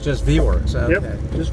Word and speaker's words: VWerks: How is this pronounced? Vworks. Say that again. Vworks. Just Vworks.